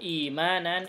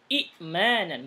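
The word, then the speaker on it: إيمانًا: Oh, imanan itu asalnya dari kata-kata a'mana yu'minu i'manan. Gitu asalnya. I'manan. Gitu ya. Kemudian hamzah yang kedua dibadalkan, digantikan dengan ya, sesuai dengan harokat hamzah yang pertama kasrah. Jadi bacanya panjang, bukan imanan, tapi imanan.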